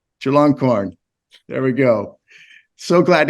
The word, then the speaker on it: Chulalongkorn: Maybe you can give a better pronunciation of that. Chulalongkorn. Chulalongkorn.